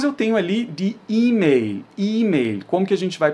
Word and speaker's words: E-Mail: E esse L precisa ser pronunciado de maneira bem explícita. Eu tenho que pôr a pontinha da minha língua ali no céu da boca.